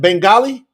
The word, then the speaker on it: Bengali: website into Bangla e how do you say that Bengali yeah Bengali Bengali okay so we want to